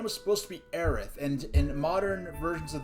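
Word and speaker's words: Aerith: is intended to be aith but be apparently the T sound is similar to the is sound and when you when you're translating from Japanese to English so her name was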